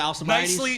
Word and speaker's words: Alcibiades: The Alcibiades. Nicely pronounced.